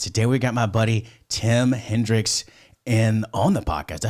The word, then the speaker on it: Tim Hendrix: we got my buddy tim hendricks and on the podcast i said that i butchered your name or did i say it correct nailed it nailed it awesome like like jimi hendrix like rock and roll